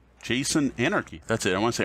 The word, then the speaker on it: Jason Anarchy: So Jason Arnold, I'm saying it wrong. Jason Anarchy.